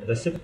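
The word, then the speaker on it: receipt: حرف الاسم في السايكولوجي وايضا لا يلفظ في كلمة ريسبت هاي الكلمة عندنا الصوت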